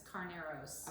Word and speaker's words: Carneros: And I don't know how to pronounce this particular area in Napa. It's Carneros. Okay, there you go, Carneros.